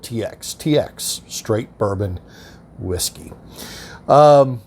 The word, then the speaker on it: TX: we're looking at tx texas straight bourbon whiskey that's tx straight bourbon whiskey i've also heard it said are pronounced tex i like to go with just the good old tx tx straight bourbon whiskey